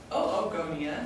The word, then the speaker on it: oogonia: which is from Adam Saleh then we have oogonia that's how you pronounce that are the gerb cells that will